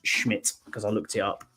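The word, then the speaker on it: Szmyt: had your one who you wanted me to pronounce it's Andre Schmidt is how it's pronounced it's pronounced like yeah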